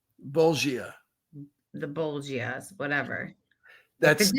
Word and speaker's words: bolgia: And I wrote, so why are they called the Bolivias? Bolgia.